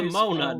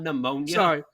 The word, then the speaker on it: Nimona: Nimona, not pneumonia.